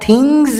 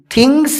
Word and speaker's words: things: یہاں تھنگز میں بھی جو اس لگا ہوا ہے اس کا تلفظ زا سے ہوگا، اسی لیے آپ تھنگز بولیے، تھنگس نہیں.